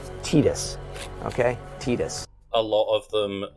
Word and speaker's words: Tidus: once was almost no his name's pronounced Tidus and I went well the game is entirely revolving around this water theme and he's like you know water tide again Titus okay Titus a of